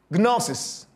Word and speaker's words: gnosis: Knowledge in the New Testament comes from the word we pronounce gnosis.